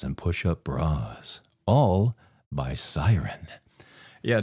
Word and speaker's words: Syrn: lace thongs, corsets, and push-up bras, all by Siren. Yeah, it's spelled S-Y-R-N. The slogan is all about the assets. I like that. All about the assets. Siren.